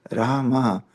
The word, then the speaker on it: Rama: Rama, produced Rama, is the incarnation of Vishnu as the prince of responsibility.